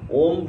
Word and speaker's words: ওম: কে বলে প্রণব ওমকার ওম শব্দ উচ্চারণ কিভাবে হয়? এখানে তিনটা অক্ষর হয়। অ ম সরয় রস ম ওম উচ্চারণটা হবে ওম অনেকে ওম অমুক্ত তমুক